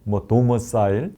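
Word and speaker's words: domicile: 이 본적지를 영어로는 이제 도머사일, 이렇게 발음을 하던데, 도머사일이 있느냐?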